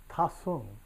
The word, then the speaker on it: De Chun: monk and landscape painter named De Chun. Tasung was the way he would have pronounced his name, but I guess he figured that the college students who hung around with him couldn't say that, so he wrote it De Chun, D-E-H-C-H-U-N.